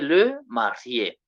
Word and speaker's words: marié: So the married man, we say le marié. The lady, we say la mariée. Remember, we have been told they are pronounced the same, but now the article must change.